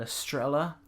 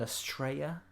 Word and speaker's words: Estrella: I'm sort of trying to learn Spanish a little bit, and I'm sort of learning that 2 L's is usually pronounced yeah, rather than la.